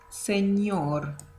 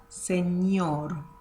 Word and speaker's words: señor: in the English alphabet, which is ñ. Ñ. So that word sounds señor, señor.